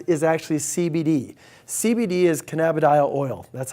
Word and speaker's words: cannabidiol: CBD is cannabidiol oil. That's how it's pronounced.